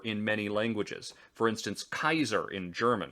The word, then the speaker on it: Caesar: For instance, Kaiser in German, which is actually the correct Latin pronunciation of the name.